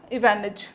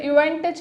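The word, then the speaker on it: Ivanitch: हैं, स्वेलेविडॉफ और Nikita इवानिच। Guys, जैसे इसमें टी साइलेंट था, स्वेटलेविडॉफ नहीं, स्वेलेविडॉफ। इसमें इवेंटिच नहीं है, इवानिच, इसमें भी टी साइलेंट है।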